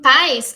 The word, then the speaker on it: pais: País, a gente vê que tem duas sílabas, e cada uma dessas sílabas tem seu núcleo, que é a vogal, né? Então, o pá e o is. Em pais, é só uma sílaba, e a vogal é o A.